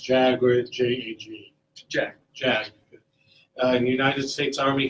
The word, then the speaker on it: JAG: As a first attorney, JAG, it's pronounced JAG or J-A-G?